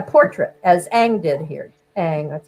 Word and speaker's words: Ang: Ang, that's how you pronounce it, Ang.